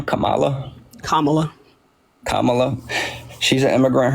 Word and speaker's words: Kamala: say like actual sentences please how do you pronounce her name Kamala Kamala Kamala she's an immigrant herself she's going